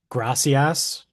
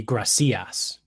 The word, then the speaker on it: gracias: So like gracias, right, is there's an accent on the a because if there wasn't, it would be gracias. Like the natural the natural emphasis goes on the second to last vowel of the word.